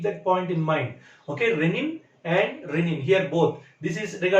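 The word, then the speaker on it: rennin: Renin, there is another word, R-E-N-N-I-N. Okay, please remember, the pronunciation is the same, but the functions are different. You have to keep that point in mind. Okay, renin and renin, here both.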